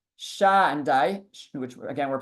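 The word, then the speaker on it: Shaddai: So he says that the name Sha-dai, which again we're pronouncing as Sha-dai, that name comes from the word shoded.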